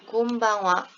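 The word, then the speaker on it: こんばんは: 코, 응, 하에 땡땡, 바, 화라고 써볼게요. 곤방와. 발음을 써보면 코, 응과 응 뒤에 발음 봤더니 바야, 바, 그지? 바, 그리고 얘는 와예요.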